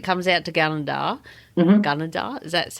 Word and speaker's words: Gunnedah: Gunnedah, is that how you say it?